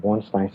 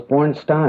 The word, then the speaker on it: Bornstein: Yeah, born with a Stein, Bornstein. See the baby here? Oh, it's Bornstein.